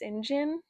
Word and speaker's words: St. John: But yeah, this book was great and I actually can't believe that St. John is pronounced Sinjin.